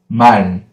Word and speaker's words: 말: The first one, M sound, A vowel, 을 sound, it is 말. 말. Repeat after me. 말. That's it. It is not 말. It is not 말. We have to close. It is 말. 말. Yeah, short and clear.